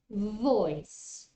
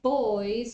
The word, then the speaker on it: voice: here the first one voice voice if you say boys with the other B you're talking about young men yes so make sure you pronounce this consonant correctly voice voice that's why